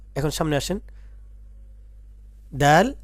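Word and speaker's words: د: এখন সামনে আসেন, দাল জাল, দাল জাল।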